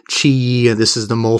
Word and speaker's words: Qi: Lube you know that Qi weii adds pronounced Chi and this is the